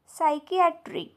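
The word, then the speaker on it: psychiatry: इथे P silent आहे next सायकट्री सायकट्री इथे सुद्धा पी सायलेंट आहे त्यानंतर आहे सायकट्रिस्ट इथे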